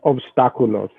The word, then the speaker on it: Obstáculos: It's pronounced obstáculos.